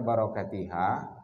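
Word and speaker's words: بركتها: pohon kurma dan keberkahannya dibaca barokatiha bukan karena majrur tapi karena mansub kenapa mansub karena atab nakhlah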